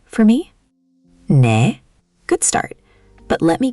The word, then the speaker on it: 네: In Korean, 네 is the verbal equivalent of that nod.